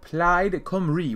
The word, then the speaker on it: Plaid Cymru: So it's probably Plaid Cymru, right? Because I was told I was pronouncing it wrong, which I understood. So, Plaid Cymru, which sounds very, very weird to me, but hey, it's Welsh.